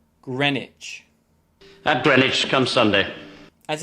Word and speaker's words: Greenwich: this book number 14 students often make the mistake of pronouncing it like green witch but it should be pronounced greenwich greenwich at greenwich come sunday